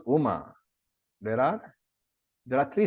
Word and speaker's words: Uma: oma when you pronounce Uma there are there are three syllables and when you pronounce omkara also there are three syllables so Uma Devi and